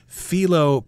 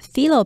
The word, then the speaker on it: phyllo: It's got lots and lots of layers of something called phyllo pastry.